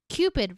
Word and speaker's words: Qpid: Qpid rhymes with stupid.